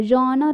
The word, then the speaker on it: genre: talk about a genre a genre is a french word uh it's a the